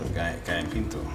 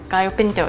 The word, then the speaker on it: Gallo pinto: And then Gallo pinto. Gallo pinto, yes.